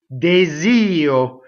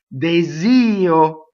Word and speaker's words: desio: Desio. We know this E is closed because the accent is on io. Desio.